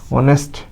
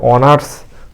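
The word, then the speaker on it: honour: তারপরে দেখো এইচ এর জন্য অ, এইচ ও, অ হয়ে গেল। এন এর জন্য হচ্ছে ন, অ এর জন্য এইখানে কি স্বরে আ নিলাম, আর এর জন্য হচ্ছে র, কিন্তু এই রটা অনুচ্চারিত থাকবে, অর্থাৎ অনার না হয়ে উচ্চারণ করব আমরা কি? অনা, অনা, অনা।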